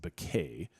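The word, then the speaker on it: Bequia: And one of the islands you will go to is an island that's pronounced Beay.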